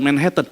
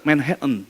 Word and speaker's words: Manhattan: Weh, Manhattan gitu bukan Manhattan ternyata bacanya. Manhattan. Saya juga baru tahu dari Yohan. Kamu bacanya salah bukan Manhatten. Manhattan ya. Heen ya en gitu ya.